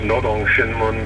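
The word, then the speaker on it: Rodong Sinmun: to explain right here n's and rs are transliterated in a funny way from Korean language uh it's pronounced Nong shinmun meaning the workers uh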